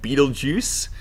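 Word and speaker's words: Betelgeuse: Stars over here so this one is called Beetle Juice I have heard it pronounced other ways too but I'll just say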